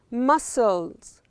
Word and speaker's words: muscles: And what we can see here, muscles. These are muscles. C is silent.